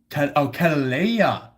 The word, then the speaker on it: Kataleya: um Katelija said, and it's pronounced Kataleya.